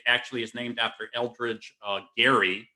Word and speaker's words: Gerry: And the reality is, for those of you who may not know the origin, it actually is named after Eldridge Gary, pronounced with a hard G, who was a signer